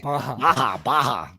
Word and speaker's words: Baja: Damn, that's like Baja. Oh, that's right. Baja. What, Baja. Mountain Dew all of a sudden is in Spanish? We're pronouncing our J's as Y's.